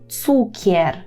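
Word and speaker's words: cukier: це буде цукор і польською Ми кажемо Цукер Цукер так Зверніть що там чітко вимовляємо Цукер Цукер Ну і слово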